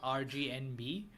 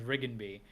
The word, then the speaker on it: Rigenby: And I mean, it is colorful enough to be named RGNB, but it's supposed to be pronounced Rigenby.